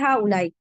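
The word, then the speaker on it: هؤلاء: नहीं आ रही है हमजा हमजा के ऊपर पेश है ठीक है हा उलाई हा का प्लूरल है हा उलाई दिस द यह यह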